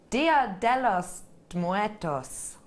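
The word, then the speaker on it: Día de los Muertos: Dia de Muertos, like that. Dia de los Muertos.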